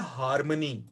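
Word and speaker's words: harmony: उसके बाद अगला जो लफ्ज है वो है हारमनी, और इस लफ्ज का जो तलफ्फुज है उसमें आर साइलेंट होता है, हार्मनी पढ़ते हैं इसे।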